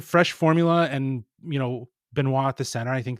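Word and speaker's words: Benoit: But you got to say it like Benois.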